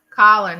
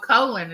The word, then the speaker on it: Colin: I'm in trouble oh some people call my grandson Colin he gets upset and oh colon he gets upset and Hell tells now I'm not a colon my name is Colin I have to admit